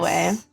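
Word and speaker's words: güey: I pronounce it like way and it's like a meme now. So every time I type it I use an i instead of the y.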